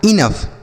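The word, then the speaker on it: enough: तो तो इन दोनों के मिला के बनेगा इनफ।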